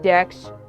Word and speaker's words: Dex: record but most people call me Dex rhymes with sex unless that's inappropriate for